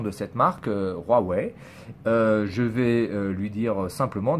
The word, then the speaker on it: Huawei: en france voulait prononcé huawei et vous prononcez huawei j'en ai rien à battre voilà c'est moi je vous donne la prononciation originale de la marque originale qui est chinoise voilà maintenant c'est tout